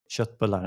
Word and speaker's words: köttbullar: So I'd say köttbullar, as we pronounce it.